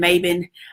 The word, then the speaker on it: Maiben: four o'clock my name is and Mayman it's not hard to pronounce if we can pronounce Tchaikovsky we can